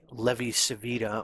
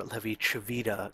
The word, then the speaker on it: Levi-Civita: talk about was the levy savita or levi chavita connection i've heard this pronounced both savita and javita in my head i usually just end up pronouncing it savita so that's probably how